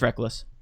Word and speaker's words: Rekkles: of the ownership yeah it's rekkles it's reckless I know okay yeah yeah sorry that's I I said that's correct yeah because you know what yours I always mispronounce NBA players now it's my turn right hi what someone said I thought his name was rekkles reckless it is I'm just an idiot